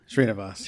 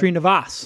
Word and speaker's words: Sreenivas: Sreenivas. Yeah. Sreenivas.